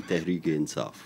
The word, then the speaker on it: Tehreek-e-Insaf: Umar Rehman, who chairs the Paris branch of Imran Khan's Pakistan, let me pronounce it right here. Go ahead. Tehreek-e-Insaf Party? Pakistan Tehreek-e-Insaf.